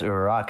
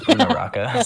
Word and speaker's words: Uraraka: You don't get to hear her pronounce Uraraka as Unaraka.